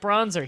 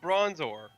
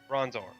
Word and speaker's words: Bronzor: it bronzer he's reflective no it's bronzor if was bronzer it would be that thing that like New Jersey dudes put on themselves but how do you pronounce the the thing that you look into and it reflects your image back at you a mirror so use that last uh sound and put it the bronzer bronzor miror call it bronzer